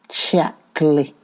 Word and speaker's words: Chatterley: lucky girl this morning she pronounced the name as all the people did chapterly isn't lady chapley good